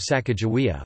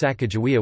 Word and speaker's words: Sacajawea: Clark journals in 1814, about the pronunciation of her name and how the Tz sounds more like a J.